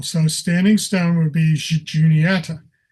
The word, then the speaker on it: Juniata: So this is where we get the pronunciation Juniata. The name translates to mean the standing stone people. Haga means people, so standing stone would be Juniata. Today we use the hard J sound, but originally it would have been Juniata.